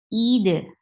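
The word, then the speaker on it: عيد: First, you should say the haq, the right of this hamza. Don't drop hamza. Don't drop kasra. The hamza should be there. It should be pronounced from your throat. Kasra should sound e. E. Yes. E double E. Yes. Eid. And you will give qalqala on dal because dal is part of potubu jaddin.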